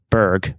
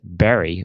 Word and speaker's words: berg: His last name ending in Berg is pronounced Berg by English speakers, but in Swedish as Berry, or very nearly so.